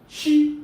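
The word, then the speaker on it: qi: Now, in traditional Chinese medicine, it is believed that the body possesses a unique invisible energy called chi energy. It is pronounced c h i but spelled q i, chi energy.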